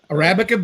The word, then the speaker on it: Arabica: Uh, Arabica beans is what we Arabica. Arabic. mostly, yeah. I I for the longest time just thought it said Arabic. I'm glad I know how to say it now.